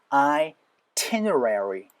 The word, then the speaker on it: itinerary: 일단은 t 강세가 찍히고 앞에를 I 사운드를 만들어 주시고요 t 하고 나서 여기가 사운드로 힘이 살짝 빠져야 됩니다 느 하고 나서에요 그래서 itinerary itinerary itinerary 요거 대빵 어려운 싸움이요